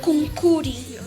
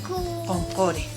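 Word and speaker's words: qunquri: No hay, en la escritura no hay la E ni la O, pero sí en la pronunciación. Por ejemplo, no está escrito con O, pero decimos concore. ¿No ve? Como que es la O, concore. No es concuri, no es concuri, sino es concore.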